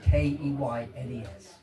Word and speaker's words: Keynes: I know it's spelled Keynes, K-E-Y-N-E-S. But in the village, we prefer to pronounce it Keynes.